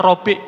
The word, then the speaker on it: Rib'i: Ketika itu Sa'ad bin Abi Waqqas mengutus seorang sahabat pula, Rib'i bin Amir radhiyallahu anhu. Ada yang membacanya Rabi' bin Amir. Tapi kita mengambil pendapat Rib'i bin Amir radhiyallahu anhu.